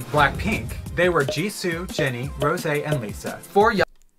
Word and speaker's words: Rosé: And Rosé. Sorry again for the wrong pronunciation in the other videos. Rosé and Jisoo are like the main vocalists.